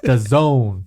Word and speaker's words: DAZN: that da and stuff Daz n it's the Zone hey but I understand